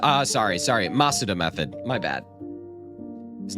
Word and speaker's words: Masuda: Oh, you pronounce masa. Uh, sorry. Sorry. Masuda method. My bad. His name is Junichi Masuda.